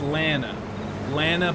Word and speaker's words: Lana: And FYI, my name is said with a long A. Well, so it's Lena Banana? I don't get it. I need help with names. Rhymes with Hannah. So it's Lana Banana.